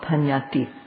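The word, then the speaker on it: paññatti: foreign m foreign in the buddhist text there's a word called panyati and in burmese it's pronounced similarly pena and in english sometimes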